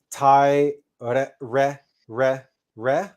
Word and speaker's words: Tai Re Re Re Re: And you want to do the syllable Tai in a lower octave or a lower note or a lower tone, and then the Re in a higher tone. Also, you don't want to roll the R.